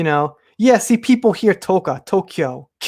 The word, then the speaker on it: Tokyo: Yeah, see, people hear Tokyo. There's a K sound. I don't say the A at all, Tokyo. So if you're hearing ka, it's your ear, Tokyo, like Kyoto, right?